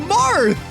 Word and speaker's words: Marth: It's pronounced Marth.